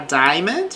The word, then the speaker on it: diamond: A diamond, observe que não pronuncio a vogal A.